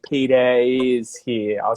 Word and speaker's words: Peter: If there's no vowel sound, you don't say the R. So, for example, if I say my name, Peter, Peter, Mm-hmm. there's no R at the end of it.